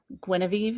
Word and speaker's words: Guinevere: And I thought it was interesting how she talks about, it's Guinevere is how you pronounce the main character.